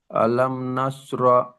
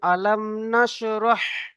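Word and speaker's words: ألم نشرح: বিসমিল্লাহির রাহমানির রাহিম আলাম নাসর লাকা সদ রক হাকে উচ্চারণ করেন আলাম নাসরহ আলাম নাসরহ লাকা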